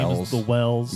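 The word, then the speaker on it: Wels: is the Wells. Yeah, or Vells, I suppose would be the proper pronunciation. Considering where all this came from, I'm assuming that the W would be pronounced like a V.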